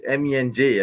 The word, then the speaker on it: MENJ: I just had to say that because everyone keeps pronouncing it. It's mensch. I really find that annoying. It's MENJ. I mean, what's so hard to pronounce my initials MENJ?